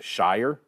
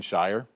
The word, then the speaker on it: Shier: As we uh take a look at those two deeps, the pronunciation guide on Iowa's website pronounces Carson's last name as Shier. Sh. Carson Shy.